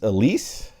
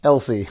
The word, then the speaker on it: Elsie: Is this Elise? This is Elsie. Elsie. I keep thinking it's Elise too.